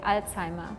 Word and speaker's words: Alzheimer: Or like in German we say Alzheimer because the Z like Alzheimer.